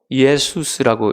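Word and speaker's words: Ἰησοῦς: 예호슈아는 헬라어로 예수스라고 읽습니다. 그러니까 여러분 그 영어로는 예수님 지저스죠.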